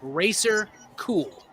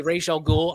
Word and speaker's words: Ra's al Ghul: He calls him Racer Cool. Right? That also tells you it's a long A sound, but it doesn't matter.